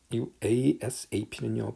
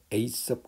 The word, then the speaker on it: ASAP: ASAP는요 발음은 ASAP 그러기도 하고 ASAP 이렇게 발음해도 되고요.